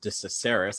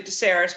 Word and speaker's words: Decesaris: Sure, and it's actually Decesaris, but it was close. Thank you, sir. It's all right, it's that extra syllable.